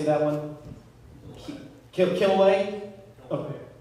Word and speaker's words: Kilauea: in hawaii how do you say that one killaway okay kilauea all right exactly all right that one started erupting january 3rd 1983 and went to september 4 2018.